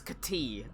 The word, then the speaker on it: Kati: It's not Cody, it's Kati.